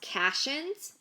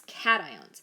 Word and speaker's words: cations: are called cations cations it is not pronounced cassians it's cations so these are the